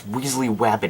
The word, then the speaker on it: Weasley Wabbit: And yes, Weasley Wabbit is actually how you pronounce it. I'm not talking like a toddler.